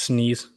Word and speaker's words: SNES: games let me see that's pronounced sneeze windows you